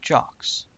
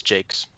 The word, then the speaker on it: Jacques: I also really like Brian Jakes, author of the Red Wall series. I love those books. Is it Jakes or is it Jocks? It's Jakes.